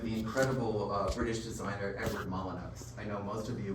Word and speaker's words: Molyneux: incredible British designer Edward Molyneux. I know most of you, when you see his name, think it's pronounced Molyneux. It's not. He always said it's a good English name, it's pronounced Molyneux.